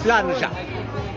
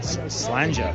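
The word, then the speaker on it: slàinte: But I want to make sure I get the pronunciation right. It's slanje. It's not enough Spanish. So tell me how to say it in the proper Scottish. Oh, slanje.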